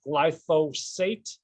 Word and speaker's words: glyphosate: harms of public enemy number one which is glyphosate that i mentioned it is pronounced glyphosate and not glycophage or glyphospherus or anything like